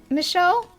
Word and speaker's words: Michel: Oh, I'm just going to keep to Michelle right now because I'm pretty sure the commenter said we're pronouncing it right.